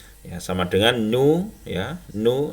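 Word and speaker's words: ν: Kecepatan cahaya itu adalah atau speed of light ini ya, disimbolkan dengan C ya, sama dengan nu ya, nu ini V tapi sebenarnya membacanya nu ya, kali lambda ya.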